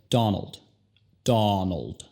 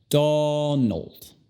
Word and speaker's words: Donald: Donald. La primera sílaba es la enfatizada, ¿verdad?